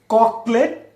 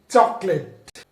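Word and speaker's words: chocolate: ককলেট না, এটা চকলেট। চকলেট সিএইচ থাকলে চয়ের মতো উচ্চারণ হবে।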